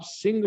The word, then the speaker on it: सिंह: लेकिन वो है जिस समय आप उसका उच्चारण करते हैं वो है ह।